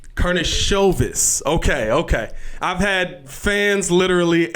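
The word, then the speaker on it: Karnišovas: Karnisovas. Karnisovas.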